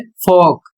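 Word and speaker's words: folk: दूसरा जो नियम है इसमें लिखा है ओ एल के बाद जब के आता है तो एल साइलेंट हो जाता है या एल साइलेंट रहता है जैसे एफ ओ एल के और इसका उच्चारण होता है फोक और इसका अर्थ होता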